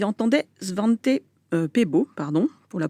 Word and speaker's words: Svante Pääbo: On y entendait Svante Pääbo, pour la prononciation, qui a reçu le prix Nobel en